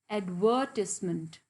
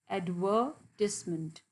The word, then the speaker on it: advertisement: sound so it will be how we will pronounced advertisement advertisement advertisement and informally it is called as advert